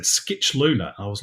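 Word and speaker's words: Scicluna: I looked at that and thought Oh that's shuna um males Heritage um and I was told no that's not right look at the pronunciation guide and I looked at it and it said Skitch Luna and I was like o that doesn't that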